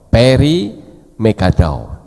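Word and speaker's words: פרי מגדיו: Perimegadao, ya. P res yod, mem gimel dalet yod wow. Jadi membacanya perimegadao, yang artinya buah yang menyenangkan.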